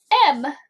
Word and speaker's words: moan: Our A is silent on this one, and the O is long.